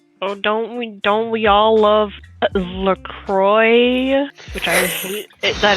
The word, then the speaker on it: La Croix: LaCroix. Milk. La Croix. Oh, my head aches back. X is silent.